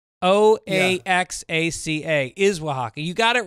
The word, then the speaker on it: Oaxaca: He says, sometimes I have a hard time when I see Oaxaca in print, which for some reason I pronounce Oaxaca. It is pronounced Oaxaca. O-A-X-A-C-A is Oaxaca.